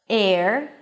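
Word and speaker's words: heir: Just memorize those words that don't begin with an H, although there is an H in the spelling, and you'll be fine. So again, honor, honest, our air, herbs.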